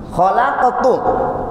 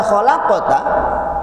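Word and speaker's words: خلقتُ: Yang kedua, atau misalkan tertukar harokat, harusnya fathah menjadi dhammah misalkan. Khalaqatu, atau misalkan dhammah menjadi fathah. Khalaqatu artinya aku telah menciptakan. Ketika dibaca khalaqata, kamu telah menciptakan. Yang seharusnya dhamir untuk Allah, aku menciptakan, dibacanya khalaqata, berarti kamu yang telah menciptakan.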